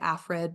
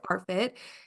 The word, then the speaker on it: ARFID: more is it pronounced arfid arid exact yeah yes I know a a lot of people mix up the r and the A and so we'll say afid but it is arit and it stands for